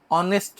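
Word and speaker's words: honest: হ্যা হইছে হিস্টোরিয়ান তাই না তাহলে এখানে কিন্তু এ হবে কিন্তু নিচেরটা যদি দেখো অনেস্ট ম্যান দেখ হ দিয়ে শুরু হইলেও অনেস্ট ম্যান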